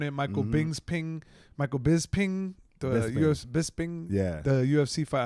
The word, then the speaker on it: Bisping: like Godfrey on it Michael Bings ping Michael Bisping the Bisping the UFC fight I learned how to really say his name last night I've been saying bsby it it's I thought it was bisbing bisbing